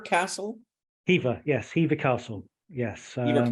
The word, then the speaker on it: Hever: in the afternoon head down to, is it pronounced Hever Castle? Hever, yes, Hever Castle, yes.